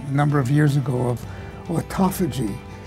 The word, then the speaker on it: autophagy: of years ago of autophagy none of us could even pronounce it and uh and there's still lots of people who call it auto fagy or or something like that but in any